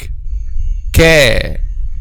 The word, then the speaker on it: ك: any letter, which is put the letter in the state of a sukoon and put hamza with fatha before it. So ak, ka, ki, ku, ak. So the point of articulation of this letter is tongue. We pronounce this letter using tongue, okay?